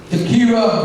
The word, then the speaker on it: Takira: introduce Kelly Baskin, SES Takira, 11th grader from Plainfield East High School in Plainfield. Congratulations. Come on up. Good evening. First of all, I'd like to say, pronounce my name Takira.